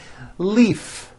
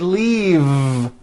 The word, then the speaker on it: leave: with a voiced V Leaf I'm in a hurry and I need to Leaf is that correct no it's not leaf with an unvoiced F I should have said leave with a voiced V sound faisa she just